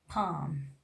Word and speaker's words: palm: Letter L is the silent when it comes just after the vowel A, O, and U, like calf, half, palm, would, should, could. We are not pronouncing letter L.